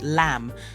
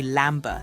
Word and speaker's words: lamb: Words like lamb. You don't say lamber, do you? Nope, that sneaky B is silent.